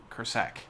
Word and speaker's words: Kursak: But when you talk to individual people, when we talk to Greg Kursak or when we talked Kursak, got to really put emphasis on that last syllable there.